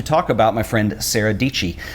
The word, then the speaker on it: Dietschy: about my friend Sarah dii she says it rhymes with peachy but more important importantly